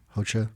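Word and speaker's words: Rocha: I train at 413 Jiu-Jitsu uh under Pedro HOA yep um which is spelled r o c a I'm sorry r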